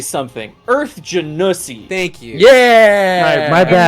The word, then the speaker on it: Genasi: Yeah, Genasi is how we pronounce it here.